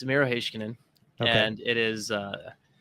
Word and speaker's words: Miro Heiskanen: It's Miro Heiskanen, okay. And it is that is how the Finns have told me is pronounced.